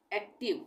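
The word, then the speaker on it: active: एक्टिव, इसमें भी आई का उच्चारण ई हो रहा है, आई नहीं हो रहा है, पैसिव एक्टिव।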